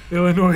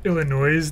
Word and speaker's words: Illinois: Illinois is where they say Illinois, the S is silent.